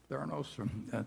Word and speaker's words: Theranos: And Theranos, I think, is that the way you pronounce it, Charlie? Theranos? Yeah.